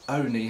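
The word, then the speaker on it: Olney: town of only or only as it's pronounced locally in buckinghamshire um down below me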